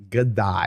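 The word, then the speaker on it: Haidai: gay could die and i know it says h but it's pronounced with a g sergey godai of course that being the ukrainian governor of the legansk region um sergey gadai he said after legansk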